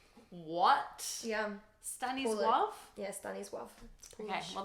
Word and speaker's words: Stanisław: It's Stanisław. What? Yeah. Stanisław? Yeah, Stanisław. Okay, well there's an L in there, but that's obviously not how it's pronounced.